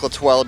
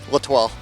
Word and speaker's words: L'Etoile: We'll go with Latoile Jr. because that's how my grandfather pronounces it. So he's the boss. So Latoile. Latoile it is.